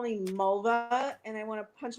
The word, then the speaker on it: Mulva: what's your name malnute mulva does it rhyme with the female body part no up every song well you know yadda yadda you know melna it rhymes with vulva somebody needs a black